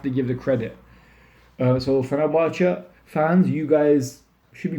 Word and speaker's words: Fenerbahçe: And the way Fenerbahçe played, or Fenerbahçe in Turkish, that's how you say it, played against Trabzonspor was amazing.